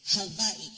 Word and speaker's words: Hawaii: you never knew first things first the proper pronunciation is Havi just so the world gets to hear it